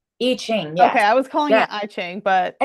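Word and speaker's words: I Ching: And it's Iching, correct? Iching.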